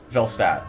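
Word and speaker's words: Velstadt: Velstat. Oh, it's there is an L there. Velstat.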